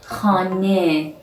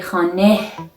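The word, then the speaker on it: خانه: for example means moon in some final positions of this letter this saturn doesn't sound like head it sounds like a short vowel like egg for example khan means a house we don't say hane it's not hey and also note that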